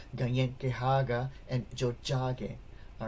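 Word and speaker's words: Tiohtià:ke: The T is more like a D or J, or, DJ sound, right? So when you have, it's not Tio Tiage, it's Jojage, alright?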